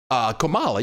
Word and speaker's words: Comala: Comala, yeah, that's how you say it.